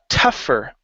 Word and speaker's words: tougher: uh let's see here tougher now here the GH is pronounced okay it's an F sound in this word so it's tough tougher